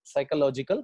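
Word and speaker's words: psychological: not possible because utility साइकोलॉजिकल कौन साइकोलॉजिकल पढ़ने का पीस साइलेंट होता है उसमें पीस साइलेंट होता है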